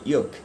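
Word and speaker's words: যোগ: আমরা ইয়োগ বলি এই কারণে, যেমন যদাযদাই শব্দটা নিয়ে অনেকেই প্রশ্ন করেন আমরা কেন ইয়দাহি বলি। এটা ভেরি সিম্পল, সংস্কৃত উচ্চারণটা হচ্ছে যুগোস্লাভিয়ার মতো। যুগোস্লাভিয়া রাষ্ট্রের নামটি লেখা হয় ওয়াই দিয়ে, ইয়োগোস্লাভিয়া। ঠিক এরকম অন্ত্যস্তর্যকে আমরা বলবো ইয়োগ।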